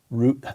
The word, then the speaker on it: Reuther: to the blowing up in a moment Walter root how was that pronounced Luther Luther Walter Reuther 1907 nineteen seventy built the United Automobile Workers